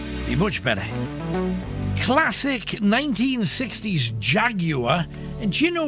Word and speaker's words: Jaguar: much better classic 1960s jaguar and you know we've been pronouncing jaguar wrong since i was a little boy jaguar apparently jaguar in britain we've always called it a jaguar but a classic 1960